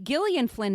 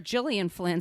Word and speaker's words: Gillian Flynn: littleit episode Margo and I kept calling her Jillian Flynn so that's another reason for us to redo it so I could pronounce her name properly but this I was